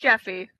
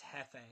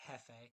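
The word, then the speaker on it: Jefe: It looks like it'd be pronounced Jeffy. It's Hefe. It's Hispanic. Hefe? Yeah, it's Hefe.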